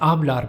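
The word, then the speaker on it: hablar: In modern Spanish, the letter H is not pronounced.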